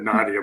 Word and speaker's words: Nadia: fine oh i think he just missed my pronunciation i said nadia but he played in